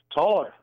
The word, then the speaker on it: Thaler: How do you say that last name, Rick? Taller. Yeah, Taller.